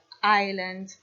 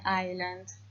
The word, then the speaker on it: island: and the last word island we live on an island now I'm going to give you a little clue here one of the letters in this word is silent letter excellent now I'm going